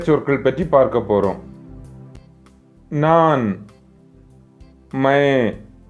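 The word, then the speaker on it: मैं: நான், மை, மை. பிராக்கெட்டில் ஏதேனும் வார்த்தைகள் கொடுக்கப்பட்டிருந்தால் அதை பாதி மாத்திரை அளவு உச்சரிக்க வேண்டும். எழுத்து வடிவத்தில் எழுதும்போது மைன் என்று எழுதுவோம். அந்த இன் சைலண்ட் ஆகி இங் வடிவத்தில் உச்சரிக்க வேண்டும். மை.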